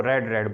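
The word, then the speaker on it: read: First form को हम रीड बोलते हैं, सेकंड और थर्ड फॉर्म के स्पेलिंग सेम है, वही है, लेकिन इनकी प्रोनाउंसिएशन चेंज हो जाती है, फिर हम इनको रेड रेड बोलते हैं।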